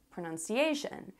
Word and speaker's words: pronunciation: sense at all Because it sounds like it should be spelled SH UN but anyway That's why